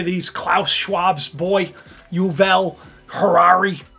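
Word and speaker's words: Harari: Klaus Schwabs boy uvel Harare I like saying Harare because it rhymes with Ferrari but you've all you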